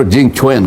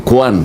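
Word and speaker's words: Jing Quan: Your excellency ambassador Jing Chwen. Huwag mong sasabihin kwan.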